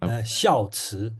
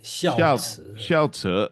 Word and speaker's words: 孝慈: Can someone pronounce it in Mandarin? Is it? Hang on. 孝慈, 孝慈.